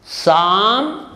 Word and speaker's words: psalm: pseudonym of alfred samuel sudo nim psycho psychology psalm pneumonia pseudo pseudonym or some examples for the